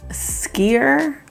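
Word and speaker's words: skyr: food just looked good they have something called skeer that's how you pronounce it it's almost like a yogurt those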